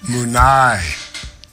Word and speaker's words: Munay: And am I pronouncing that correctly? That's how we call it, the Church of Munay. You are. Okay.